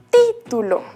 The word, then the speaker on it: título: Por ejemplo, en la palabra título. ¿Vemos la rayita ahí encima? Esa es la vocal que tenemos que entonar más fuerte.